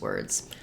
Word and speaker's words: word: words uh for example words like word you can think of that as being were plus a D sound or work you can